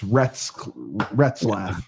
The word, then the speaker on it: Retzlaff: Rescliff. Yeah, Rescliff. That's what it's Retzlaff.